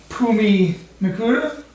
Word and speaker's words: Phumi Nkuta: prospect, law MMA standout, Phumi Nkuta. Yeah, you know what? You said it right.